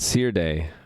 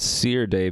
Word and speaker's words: Serde: a serializer since i'm i'm choosing to call it seer day because serialization and d serialization i pronounce serialization and d serializations that seer d c or d i have